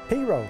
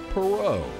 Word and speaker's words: Perot: perau but that's not how his daddy pronounced the name pero cornrow cotton r p just so you get your pronunciation right the Naval Academy would later Rebrand the family name for Ross Jr to the proper French pronunciation of perau but that would never